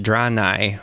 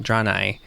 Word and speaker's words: Draenei: I'm Draenei, that's how they were pronouncing it, Draenei. I say Draenei.